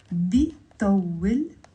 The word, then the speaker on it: بيطول: بيطول, 3 syllables.